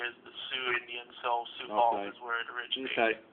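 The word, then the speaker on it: Sioux Falls: How is this pronounced? Sio Falls. Where are you located? Sou Falls. Oh Sou Falls. My bad.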